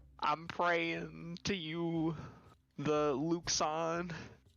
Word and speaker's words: Luxon: praying to you the luxon it is luxem yeah i pushed the pronunciation in there it's like luck sun alexander all right um there it is lux on like awn l-u-k-l-u-k-l-u-c-k-s-a-w-n all good